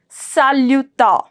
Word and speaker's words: salut: make the pronunciation now salut salut my S is going to be silent and when I'm saying salut it's a bit of nasal sound salut is the sound salut let's do it